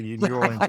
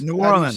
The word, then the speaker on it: New Orleans: You just got to make it a growl. How do you say it? Okay. New Orleans, guys. New Orleans. Say it. New Orleans. New Orleans. New Orleans. New Orleans. It's like all together.